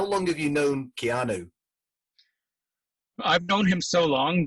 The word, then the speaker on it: Keanu: him so long that he wasn't even keanu when when when i first met him he was kianu and i'll tell you why this was because nobody knew it was an exotic hawaiian pronunciation it was and he never he wasn't the type of guy who would correct you right so to all of us canadians we had him rhyming with a piano basically right right and